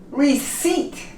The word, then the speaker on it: receipt: Receipt. We don't pronounce the P.